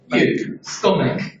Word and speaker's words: stomach: Stomach. Stomach. Stomach. Stomach. Stomach. Stomach. Banana. Banana. Right. Stomach. Stomach. Contains the sound of back.